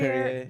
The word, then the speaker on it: Perrier: How do you pronounce that? Perrier. Perrier, yeah.